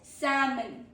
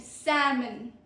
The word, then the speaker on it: salmon: Then is salmon. Salmon. L is silent. Salmon. Salmon. Meaning a popular pink fish. Salmon. Not salmon. Salmon. Pro tip is L is silent.